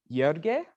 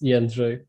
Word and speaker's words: Jędrzej: The solution will be presented by Jörge, I think. Is that how I pronounce it? It's Jędrzej, but it's okay.